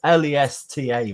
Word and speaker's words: Leicester: You pronounce it Lesta, really.